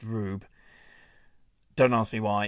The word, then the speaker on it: R/B: Yeah, the, um, R/B there is meant to be pronounced Rube.